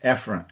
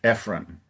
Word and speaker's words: Ephron: The name of the gentleman, I think in English, instead of Ephron, it's Ephron. Ephron.